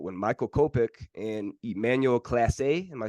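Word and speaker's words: Clase: Michael kopeck and Emmanuel Class A am I saying that right Emmanuel Class A uh I I think it's Clays place I think it's pronounced Clays but I could be wrong actually I thought it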